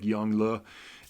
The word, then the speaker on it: Yongle: So the Emperor Yongle was the emperor who, Yongl, it looks like Yongle, which is a great sounding name, but the pronunciation is more like Yongle.